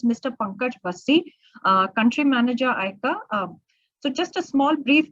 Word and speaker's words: ICA: So ICA, because I mean, a lot of people in India call us ICA as well, but the way we pronounce ourselves is ICA.